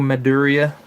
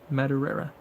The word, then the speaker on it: Madureira: Joe Maduria.